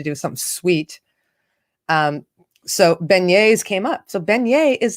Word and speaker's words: beignets: t t s vignette pronounced beignets because it's french so yesterday between all